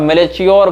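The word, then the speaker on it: Melchior: चियो का नाम था एमई एल सी एच आई ओ आर अब मेले चोर मेल मलेर जो भी हो सकता है इसका उच्चारण जीजस ईसा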